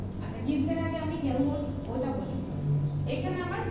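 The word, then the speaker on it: Helmholtz: কতটুকু work done হয়েছে that is হেলমহোল্টজ এমটা silent হেলমহোল্টজ কি বলে এটারে ফাংশন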